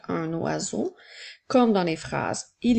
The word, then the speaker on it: un oiseau: oiseau encore une fois je vais je fais la liaison du N avec le son a donc un oiseau comme dans les phrases